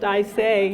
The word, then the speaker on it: Isay: I pronounced Isay, yes.